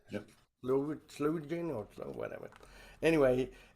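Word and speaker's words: Sloe Gin: Slow gin or slow whatever.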